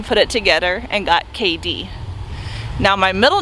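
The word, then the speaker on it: K'Dee: you spell it but it is k apostrophe d e e and it is pronounced k d my mom is a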